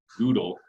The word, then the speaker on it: GDAL: They named it intentionally to rhyme with GDAL. I had no idea that there was an alternate pronunciation for GDAL as well, which is Goodle.